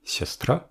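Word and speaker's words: сястра: sur le yo mais dans la version du singulier siastra l'accent est sur le a final le yo d'origine qui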